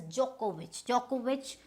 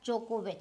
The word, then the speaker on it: Djokovic: So this is Djokovic, which means this, you don't need the D, Djokovic. So this, there is no H here but Djokovic.